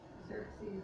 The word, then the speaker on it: Xerxes: Xerxes is pronounced with a Z, it's spelled with an X.